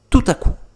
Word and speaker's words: tout à coup: Tout à coup. Que significa de repente. Tout à coup. Como se fossem duas palavras que eu vou juntar novamente. Tout à coup. P final eu não vou falar, tá?